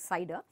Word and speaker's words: CIDR: as a cider mask CIDR is pronounced as cider and we say it's a cider mask so the cider master